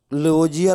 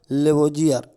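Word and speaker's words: Lavoisier: थे, देखिए तत्वों का लेवोजियर ने किया था। किसने किया था, लेवोजियर। लवांजे लिखा हुआ है, लेवोजियर इंग्लिश में देखिए लिखा हुआ है, लवाजे इंग्लिश में लिखा लेवोजियर, दोनों उच्चारण कर सकते हैं, प्रोनाउंसिएशन है, अपना उच्चारण कर लीजिएगा।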